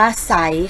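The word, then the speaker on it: ไซร้: นะ คะ ก็ คือ คำ ว่า ว่า ไซส์ นะ คะ อ่าน ว่า ใส ค่ะ ต่อ ไป เรา มา ดู ตัว ต่อ ไป ก็ เลย นะ คะ เด็ก ๆ ศ.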